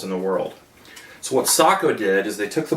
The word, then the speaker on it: Sako: s that stands for Sako S A KO a lot of Americans incorrectly pronounce it Seiko Sako is still in